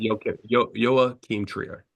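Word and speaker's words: Joachim Trier: Anderson for one battle after another uh or Joe Keem Trier how do you say that yo yo Keem trier trier yoe trier um no relation to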